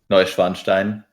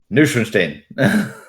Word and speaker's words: Neuschwanstein: got the map we're looking at it car butchered Neuschwanstein like three times he said neuschenstein it was real bad I know this is